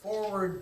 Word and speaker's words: FWRD: and then there's also Forward TV, and it's spelled FWRD, and that stands for forward, not the F word.